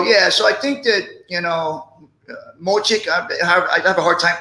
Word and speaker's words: Miocic: So yeah, so I think that Mochik, I have a hard time pronouncing that. Yeah, Miocic.